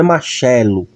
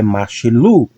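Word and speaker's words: מָשְׁלוּ: Então pronunciamos como machilu. Não é machelo, é machilu. Sílaba tônica é aqui, ok?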